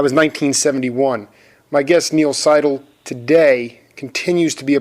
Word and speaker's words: Seidel: First of all, just to clarify, we usually pronounce our name Seidel.